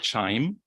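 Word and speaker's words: QIIME: we'll be using is chime um pronounced like wine time wind chime was created around in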